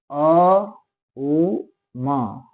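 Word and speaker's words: ओम्: तो अभी जैसे कि एक उच्चारण मैंने वीडियो की शुरुआत में कियाम अ उ म और इसम होता है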